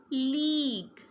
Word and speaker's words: league: Okay, GUE sounds like G. Tongue. Say with me, tongue. League, league.